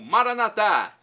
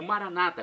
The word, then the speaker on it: Maranata: aramaico dialeto de Jesus eu clamo maranat como dizemos nós católicos ou Maranata como dizem nossos irmãos separados os evangélicos ou protestante não importa pronúncia o significado é o